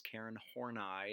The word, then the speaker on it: Karen Horney: Yes, I know that looks like the word horny. Okay, no, that is Karen Horney, and that is how you pronounce her name, Karen Horney.